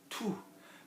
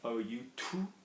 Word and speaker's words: tout: Tout. Remember, we're pronouncing this with an OU, so the monkey mouth. OU, tout. Okay. A little bit of air coming up. Tout. Okay. It's not tu, which is obviously you.